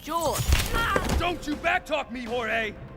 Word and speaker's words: Jorge: one up gets it jorge my name's pronounced jaw don't you backtalk me